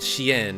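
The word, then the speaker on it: chienne: French female dogs are called Shien. It rhymes with Jen.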